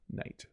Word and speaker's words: knight: Because knight with a K and knight without a K are pronounced the same way. Knight.